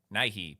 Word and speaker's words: Nighy: How do you say it? Bill Nighy? Bill Nighy? Bill... How do you say his name? Nighy.